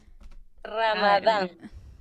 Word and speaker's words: Ramadán: una festividad, este, déjenme buscarles brevemente, ¿cómo se pronuncia Ramadán? Ramadán.